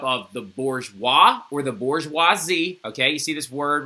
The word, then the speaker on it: bourgeoisie: The third estate is everybody else, and it's made up of the bourgeois or the bourgeoisie, okay? You see this word right here? That's how you say that, bourgeoisie, all right?